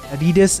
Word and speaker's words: adidas: popular in the united states by the way adidas is pronounced just like that but let's get back